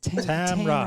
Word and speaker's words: Tamrah: And Tamrah, 2 syllables. Tamrah.